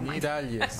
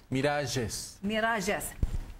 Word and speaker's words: Miralles: How do you say it? The Jorge Miralles. Oh, Miralles. I'm usually good. Say it again. Miralles.